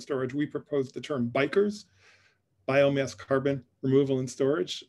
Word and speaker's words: BECCS: meeting was worried that in english this could also be read as bickers and to bicker is to argue um but but we think this is pronounced bikers um and my colleague